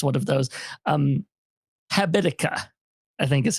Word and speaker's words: Habitica: It's one of those um Habitica I think is how you spell it.